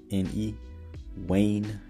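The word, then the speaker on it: uaine: And then we see like the spelling U-A-N, which is pronounced the same as W-A-N, Wan, or that U-A-I-N-E, Wayne Green.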